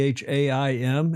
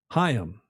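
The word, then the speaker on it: Chaim: You know how to pronounce C H A I M in Him. Haim. Haim. Yeah. Ha. That's right. In that back of the throat.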